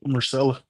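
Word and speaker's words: Myrcella: Marcella.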